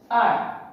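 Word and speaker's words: hour: Next, R.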